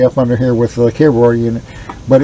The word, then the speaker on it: KVAR: It's spelled K-V-A-R, V like in Valentine, KVAR.